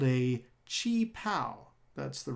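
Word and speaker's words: qipao: her very distinctive blue colored gown called a chi pal that's the right way to pronounce that word by the way it's blue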